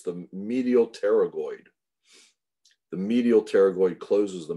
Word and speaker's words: pterygoid: an n so the p is silent it's pronounced pterygoid masseter temporalis and medial pterygoid those close the